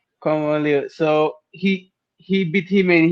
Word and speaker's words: Kwon Won Il: It's Quan? Kwon Won Il. Yeah. Kwon Won Il.